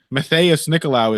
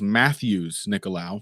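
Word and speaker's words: Matheus Nicolau: I think this is context clues because we not too long ago learned that Matthias Nicolau is Matthews Nicolau.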